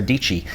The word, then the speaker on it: Dietschy: about my friend Sarah dii she says it rhymes with peachy but more important importantly